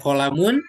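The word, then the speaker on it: قلم: Makanya taknya ada alifnya di situ untuk kayak kolamun bacanya kolamun. Jadi nggak ada yang panjang. Qolamun.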